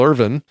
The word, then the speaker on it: Irvine: long time and so saying Irvin when it's spelled Irvine is a trick it's a trick and I'm trying to